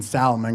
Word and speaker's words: salmon: It's not till that date that I find out that the girl that I'm sitting across from pronounces the L in salmon. Look, I'm not dating Salmon girl, ladies and gentlemen.